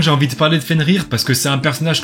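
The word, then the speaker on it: Fenrir: parle bien sûr de fen rir alors juste personnellement je dis fen rir mais certains disent fan rire je sais pas quelle est exactement la vraie prononciation frire nous vient donc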